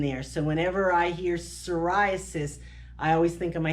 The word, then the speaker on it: psoriasis: So if you say, the P is silent, so if you say psoriasis, coarse silvery scales, there's a lot of S's in there. So whenever I hear psoriasis, I always think in